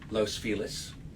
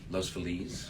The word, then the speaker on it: Los Feliz: We settled in Los Feliz, which some pronounce Los Feliz.